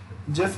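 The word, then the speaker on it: GIF: Type of images JPG, जिफ, then again animated जिफ जो आता है। सो जिफ जो है वो हम लोग जिफ प्रोनाउंस करते हैं, मतलब जे से वो प्रोनाउंस होता है, जिफ, जिफ नहीं जिफ।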